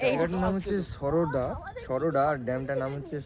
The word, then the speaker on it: সুরাডা: জায়গাটার নাম হচ্ছে সরোডা সরোডা আর ড্যামটার নাম হচ্ছে সোরাডা আচ্ছা ড্যামটার নাম হচ্ছে সুরাডা উচ্চারণ সোরাডা সোরাডা যাইোক উচ্চারণটা